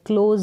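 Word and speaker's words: close: से फिर आगे है सीएल का उच्चारण क्ल क्लोज अब हम यहां पर क्लोज नहीं पढ़ रहे हैं क्लोज ज पढ़ रहे हैं एस का उच्चारण ज करके हो रहा है क्लोज का मतलब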